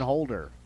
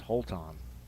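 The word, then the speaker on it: Holton: the Mustangs and Mason holder how is it oh it's Holt on yeah we all just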